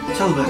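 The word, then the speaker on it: şalvar: For Istanbul city also, they have a specific traditional clothes, pronounced shalvar in Turkish, which is Turkish trousers or dimeje, are traditional baggy trousers gathered in tightly at the ankle.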